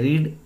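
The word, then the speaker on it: read: वाचणे, रीड रेड रेड. जरी तिघांचं spelling सारखं आहे तरी उच्चारात फरक लक्षात घ्या. रीड रेड रेड.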